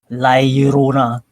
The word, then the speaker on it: La Llorona: How is it pronounced again? La Llorona. La Llorona.